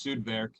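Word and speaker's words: Sudwerk: the beer industry um sued work excel itself the uh a lot of people ask the current the correct pronunciation in the german pronunciation is sudvark or southern factory is the direct translation but it's also a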